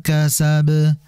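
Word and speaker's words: كسب: Nah, qalqalain ini langsung dipantulkan karena memang tidak ada tasydid, sehingga dibaca ma aghna anhu maluhu wa ma kasab.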